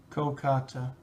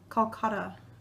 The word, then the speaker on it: Kolkata: Kolkata. Calcutta.